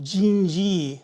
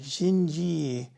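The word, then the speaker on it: Dindi: One that Mike, the one he did that I really love was called, it's pronounced Jinji, spelled D-I-N-D-I, Jinji.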